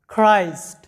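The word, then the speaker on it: Christ: তো এবার দেখো যে সি এইচ এর উচ্চারণ কখন ক হয়, যখন দেখবে সি এইচ এর পরে আর আছে তখন সি এইচ এর উচ্চারণটা ক হবে, অর্থাৎ সি এইচ আর সমান সমান উচ্চারণটা ক হবে এবং আর এ র ফলা যুক্ত হবে।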